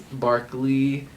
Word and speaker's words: Barclay: I don't know what they think of when they spelled it that way, but it's Barkley, but it's spelled Barclay.